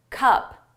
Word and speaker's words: cup: Cup. Cop. Which one is the shorter sound cup up a cop off my mouth opens wider for cop.